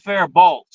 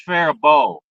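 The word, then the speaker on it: Faribault: my whole life really it's not fair bolt it's fair bow the L and the te are silent okay I just that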